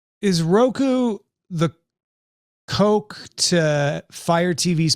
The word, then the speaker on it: Roku: fire stick and also roku rhymes with coke ooh coco cola roku